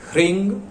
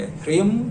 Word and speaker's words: ह्रीं: जब आप लक्ष्मी प्राप्ति के लिए उच्चारण करें, जो बीज मंत्र है ओंग ह्रींग श्रींग लक्ष्मी भ्यो नमः, यह उच्चारण करेंगे। ह्रीम श्रींग मत कीजिएगा, क्योंकि आप जब यह